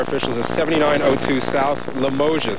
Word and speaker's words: Limoges: is 79 to south Limoges that's how the locals pronounce that we are told that